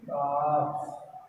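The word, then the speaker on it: calf: काफ, what becomes it, काफ, okay L is silent, you don't print L, okay काफ, leave, it becomes leaves.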